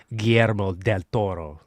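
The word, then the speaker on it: Guillermo del Toro: GMO del Toro. I g that was beautiful. You rolled it and everything.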